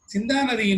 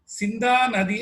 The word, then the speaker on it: சிந்தா நதி: அவர்களை கைபேசியில் அழைத்து சிந்தா நதியின் உண்மையான அர்த்தம் குறித்து வினவ, அவர் இது சிந்தா நதி அல்ல, சிந்தா நதி என்று உரைத்தார். அப்படித்தான் இதை உச்சரிக்க வேண்டும் என்று கூறினார்.